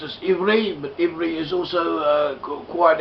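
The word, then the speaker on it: עברי: in both cases, and this letter may be pronounced either way according to the known phonetic general rules, which do not reflect on the meaning of the word.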